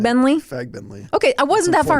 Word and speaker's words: Fagbenle: Fagbenle.